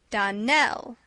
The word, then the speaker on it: Darnell: Darnell accent on the last syllable and St.